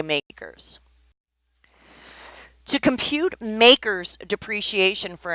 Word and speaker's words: MACRS: and we pronounce it makers and they even put the little quote there so you understand the acronym is MACRS and we say makers to compute makers depreciation